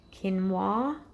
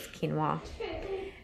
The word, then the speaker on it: quinoa: gonna have Kim mwah I call it ki know the whole family cause like you know I know it's fine I know actually it's not how you say it but I think the right word is quinoa so we're having that